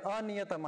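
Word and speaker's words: अनियतम्: अनिश्चित काल पर्यंत राहणार तर अनियतम आहे तो शब्द अनियतम शब्द प्रिंटिंग मिस्टेक नरके हा उच्चारण करताना नरके नियतम वासो असं उच्चारण करायचं अ मनामध्ये घ्या अ चा उच्चारण मनामध्ये ठेवा विसरायचं नाही उच्चारण इथं शेवटच्या पादामध्ये भवती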